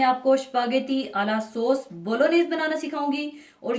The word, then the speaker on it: Bolognese: आज मैं आपको स्पागेटी आला सॉस बोलोनेज बनाना सिखाऊंगी और ये बहुत मशहूर इटालियन डिश है और इसके सॉस को बोलोनेज प्रोनाउंस किया जाता है। जी इसका साइलेंट होता है और इसमें बहुत ज़्यादा